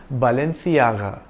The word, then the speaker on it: Balenciaga: a Spanish brand and in the spanish-spoken in Spain C is pronounced like the th in thing so its original pronunciation was Balenciaga it is a luxury